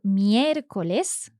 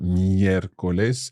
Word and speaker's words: miércoles: O, por ejemplo, miércoles. Another esdrújula, miércoles. Yes. So again, our accent sits on that first E in the word miércoles.